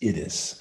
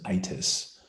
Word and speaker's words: Itys: And she goes to her own son, whose name is Itys, I-T-Y-S. Some people pronounce it Itis, I-T-Y-S.